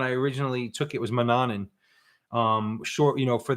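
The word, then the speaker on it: Mannun: right that's exactly right m-a-n-n-u-n like man none it's kind of weird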